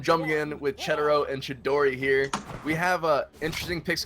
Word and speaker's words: Chidori: It's Chidori. Like from Naruto, Chidori.